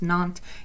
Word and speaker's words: Nantes: the Edict of Nantes it spelled na and tes what pronounce not it kind of you